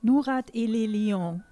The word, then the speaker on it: Nourat et les Lions: It's the right way, l'Alliance? Nourat et les Lions. El Lion. Así se pronuncia el nombre del artista y de la banda.